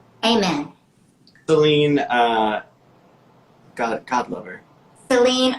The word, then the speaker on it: Celine: Celine rhymes with queen for a reason.